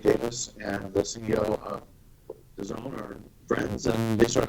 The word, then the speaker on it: DAZN: I keep calling it DAZN. DAZN. See there, Frank? You had me beat. Well, this coming from me pronouncing words has never been my strong suit.